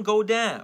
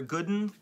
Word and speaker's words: Godin: We have Ivan King, John Godin, or Gooden, so we pronounce it both ways sometimes.